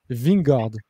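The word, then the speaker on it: Vingegaard: attaquer quand tu prononces ving gordes ok j'ai entendu pasteur l'expliqué donc très facile tu dis ving et après tu rajoutes gordes ok tu spa wingers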